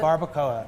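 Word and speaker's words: barbacoa: Um, and one of those techniques is barcoa, right? Is that how you pronounce it? Barbcoa.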